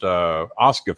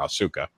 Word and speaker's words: Asuka: I am the biggest Asuka fan. I call her Asuka because that's how it's spelled, but Asuka.